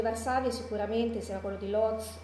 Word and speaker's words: Łódź: il ghetto di Varsavia sicuramente sia quello di Lodz o Łódź, come lo pronunciamo, quello più conosciuto perché è stato quello